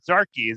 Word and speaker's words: Zarchi: This is Mark Ludlow, a second episode with Jeff Olan of Olan Casting and his co-producer director, Zarchi. Did I pronounce that right?